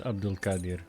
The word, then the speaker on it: Abdul-Qadir: Abdul nice to meet you both he can pronounce his last name cuz I can my name is Abdul Kadir my friends call me Abdul or